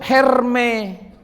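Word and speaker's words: Hermès: Disebut Herme. Dalam ejaan Prancis. Dipegang ibu direktur Hermes.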